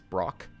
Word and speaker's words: Brock: to talk to him rhymes with lock it's Brock okay it's the practice